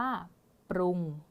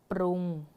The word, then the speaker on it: ปรุง: อ่าน ว่า กวาง กวาง สังเกต ได้ ว่า การ อ่าน ออก เสียง คำ ควบ กล้ำ แท้ นะ คะ เรา จะ อ่าน พยัญชนะ ต้น 2 ตัว แรก นี้ นะ คะ พยัญชนะ ต้น